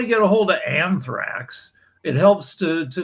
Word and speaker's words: anthrax: the chemicals that have been sprayed um an arthax I think it's called or something like that how it pronounced anthrax what anthrax yeah when when that was